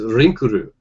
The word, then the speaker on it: Linkle: Because Link is Rinku, if you're a Japanese player. Oh, Linkle is Rinkuru.